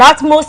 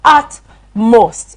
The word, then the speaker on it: utmost: utmost at most and utmost is spelled u-t m-o-s-t yes at most ut not a okay art ut and most or if you like